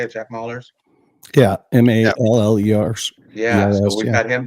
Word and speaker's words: Mallers: Yeah, Mallers.